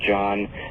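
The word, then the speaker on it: Jahn: the landmark research of Robert John, and that's spelled J-A-H-N, Robert John, and Brenda Dunn and their colleagues at Princeton University.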